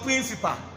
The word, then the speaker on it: principal: The AL end with the schwa sound. This AL has the schwa sound. So it sounds principal. Pronounce that after me. It's not principal, it is what? Principal. It's not principal because AL sound. So it's principal.